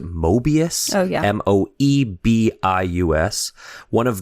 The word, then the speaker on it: Moebius: I believe you pronounce it Moebius.